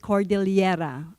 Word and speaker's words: Cordillera: And in the Philippines, we pronounce it Cordillera with L-Y.